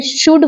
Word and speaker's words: should: जैसे शुड, SHOULD शुल्ड नहीं होता, एल साइलेंट होता है। शुड होता है, शुड वुड, इनमें एल साइलेंट होता है।